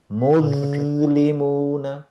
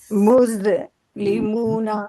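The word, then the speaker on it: مسلمون: মুজলিমুনা, মুসলিমুনা। Not moose.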